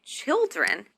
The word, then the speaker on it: children: questions is, how many children do you have? How? How? Many. Many. Children. Children. Children. This word is the plural form of the word child. Also, we need to stress the first syllable.